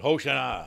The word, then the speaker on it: Hosanna: I believe it's pronounced, people say Hosanna. Oh, Hosanna, don't you? Is that song? But Hosanna, I think it's more accurate.